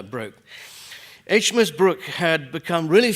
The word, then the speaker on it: Brooke: And the reason was that HMS Brooke, named after Philip Brooke of the War of 1812, but the ship was always pronounced Broke, so I will call her Broke.